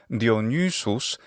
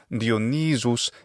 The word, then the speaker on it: Dionysus: Whereas it's Dionysus in classical Latin, it's simply Dionysus in ecclesiastical Latin pronunciation.